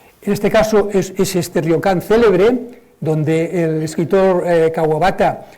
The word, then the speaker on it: ryokan: nombre en japonés es ryokan. Otra palabra fácil de pronunciar, ryokan, si quieren ustedes, no hagan tan digan ryokan, pero bueno, ryokan se entiende, las vocales españolas y las japonesas son idénticas.